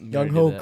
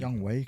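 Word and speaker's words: Younghoe: Young Wei Koo, bro. Yeah. Why'd you say? Yeah. Is that not his name? Young Wei. It's spelled Young Ho. Oh, it's not pronounced like that.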